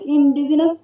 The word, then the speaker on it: indigenous: Where indigenous faith healers indigenous সাউন্ডটাকে জ হয় না কি, যা এখানে জেড এর মতো বোঝা যাচ্ছে।